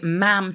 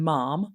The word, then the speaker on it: ma'am: none of that uh mainly it's ma'am to rhyme with ham uh rather than mom even though that's how it's spelled but it's ma'am and you don't speak until you're spoken to.